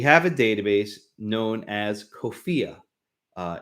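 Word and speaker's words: COFEA: a database known as kofiya uh it's spelled c the acronym is c-o-f-e-a kofiya which is the corpus of founding era american english rhymes with sophia to make it easy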